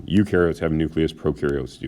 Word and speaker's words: eukaryote: prokaryotes you are a eukaryote remember this is pronounced y-o-u you are a eukaryote which means you have